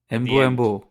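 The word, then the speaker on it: Mbeumo: Embu. It's from the right wing. So say it right once. Embu. There's no at the end. Huh? There is no There is no b at the end.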